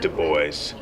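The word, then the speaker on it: Du Bois: in the back uh I've always pronounced his name du can you say du voice he's from Massachusetts not France and we have a way of making doing funny things with French here he he pronounced it de boys uh it's true but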